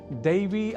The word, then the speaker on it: दैव: तो दैव के उच्चारण में ऐ के स्थान पर यदि हम उच्चारण ए कर दें तो देव यह शब्द सुनाई देगा, और आप जान चुके हैं कि देव का अर्थ होता है ईश्वर और दैव का भाग्य।